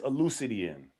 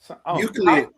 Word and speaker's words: Euclid: It's no such thing as Euclidean. Well, how you say the name? Say it proud. I know you want to say it right. Elucid. How you say his name? Euclid.